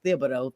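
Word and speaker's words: Thibodeau: You brought up um Tom Thibido. Um I always want to not pronounce the H. It is Thibido.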